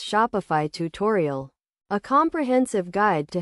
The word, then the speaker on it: Shopify: to form the word shopify. The correct pronunciation is shop fee with a slight emphasis on the first syllable. It is essential to note that the pronunciation is not shop e or shop iie but rather shopify fee.